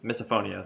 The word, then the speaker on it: misophonia: I don't know misophonia misophonia that's how I pronounced it cuz like phobia but phone cuz it's like not a visual thing it's an audible thing uh often report that